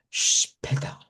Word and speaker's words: später: que tener cuidado porque el inglés quizás nos ha hecho pensar que esto suena como es P. No, es sh, la SH de un solo. Shpeta, shpeta, de un solo.